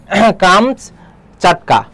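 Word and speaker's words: কামচাটকা: এরপরে দেখো কামস্কাটকার হলো, এটা হচ্ছে কি রাশিয়ার অন্তর্গত সাইবেরিয়ার উত্তর পূর্বে অবস্থিত একটি উপদ্বীপ। উল্লেখ্য এর প্রকৃত উচ্চারণ হচ্ছে কামচ চাটকা।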